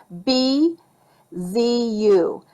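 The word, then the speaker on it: bijou: j o u and she says it's french and it's pronounced b z u so b's u so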